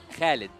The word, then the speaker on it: Khalid: How do you say Oh, actually, my real name, yeah, it is Khalid. Khalid? Khalid. Yeah. Okay, so that's how we pronounce it.